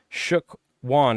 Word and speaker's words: Shookwon: If you guys on YouTube want to check out on Twitch, Shook Wan. It's spelled SHOOKWON.